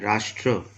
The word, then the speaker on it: राष्ट्र: राष्ट्र, र में आकी मात्रा आधा श, ट में र का प्रकार, इसका उच्चारण होगा ट्र।